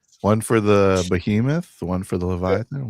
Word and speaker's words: Behemoth: Bmut. Behemoth. Behemoth. Yeah. Sorry, I'm pronouncing it wrong.